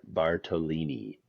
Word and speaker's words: Bartolini: And day 3, they would add Tanner Bartolini. My first favorite thing about him is that his name rhymes with tortellini.